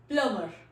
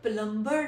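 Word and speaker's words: plumber: प्लमर, P-L-U-M-B-E-R, प्लमर. हम लोग प्लम्बर नहीं कहेंगे, हमारा जो वर्ड है the actual word is प्लम्बर. प्लमर. बी is silent in this word.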